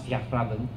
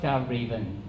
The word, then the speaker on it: Fjällräven: So it's from Sweden, so you can call it it's a bit Swedish, they pronounce Fjällräven, but I try not to do that. American, they call it Fjällräven, but I like to call it Fjällräven.